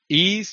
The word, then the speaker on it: Ys: Oh, Ease. You know the series Ease, which is spelled Mhm.